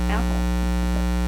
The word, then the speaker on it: Athol: This an all-women's commune over in Athol, New York.